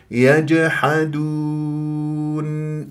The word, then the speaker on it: يجحدون: اللحميه ورفعت اقصى اللسان يجحدون ولا اقول اون اسحب ضمه الواو والدال الى الى النون اون غلط اون هكذا ترجع شفاء